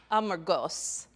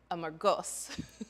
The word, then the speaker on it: Amorgos: Amorgos. You have to like accent the last syllable. That's really hard for my American accent. Amorgos.